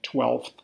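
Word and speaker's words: twelfth: 12th it is very common to forget the F when spelling 12th most people even pronounce it without the F sound 15.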